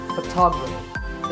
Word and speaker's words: photography: next word is photography we say photograph but photographer so the first syllable becomes and stress goes to the second civil toggle so photography in the same way